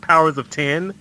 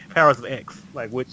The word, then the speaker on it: Powers of X: in two ways like I've heard people say its powers to be pronounced powers of 10 and it's like the powers of 10 or the power of eggs no I'm saying X coz X Men yeah I'm paying